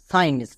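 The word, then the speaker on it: science: থাকবে এস এর পরে সি থাকলে তখন সি সাইলেন্ট থাকবে যেমন সাইন্স এখানে এস আছে এস এর পরে মানে ডান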